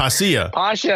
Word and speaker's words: Posha: through this last time p posha man posha that's what I said posha I've been saying Pasha the whole time what did you hear